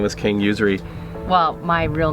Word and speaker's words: Usery: was first of all how do you pronounce it is it really usury and where did that name come from it is usury okay and it comes